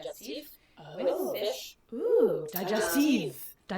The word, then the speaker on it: digestif: So traditionally you would have it as like a digestif with fish.